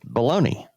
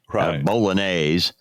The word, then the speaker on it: bolognese: And apparently she was uh doing something with bologoney. And I know that's the improper way to say it when you're mixing it with penny pasta and all that and making an actual dish bolognese.